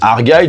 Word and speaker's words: Argylle: Donc voilà, mais non, le film dont on va parler, ça se prononce Argylle, donc en référence au nom que porte le style de pull à losange, donc vous savez, typiquement le pull à losange du tonton qui finit bourré à Noël, hein.